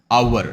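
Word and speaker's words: hour: oval letter sound అలాగే ఇక్కడ H silent అన్నమాట వీటన్నిటిలో హెచ్ సైలెంట్ కాబట్టి హెచ్ సైలెంట్ అయినప్పుడు ఏ ఉచ్చారణ మనకు బయటకు వస్తుంది మొదటిగా ఓవెల్ లెటర్ సౌండ్ అనేది మనకు వస్తుంది యాన్ అవర్ నాట్ హా ఆ హ కాదు ఇది ఆ ఓకే యాన్ అవర్ యాన్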